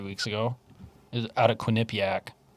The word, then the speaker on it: Quinnipiac: So in this poll dated on the 9th, so about 3 weeks ago, is out of Quinnipiac. Good job pronouncing that. That's how you say it.